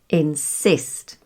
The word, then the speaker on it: insist: And then there's the general guideline that verbs and prepositions have the stress on the second syllable. Verbs we've used before here, like receive, receive, and insist, insist, or define, define.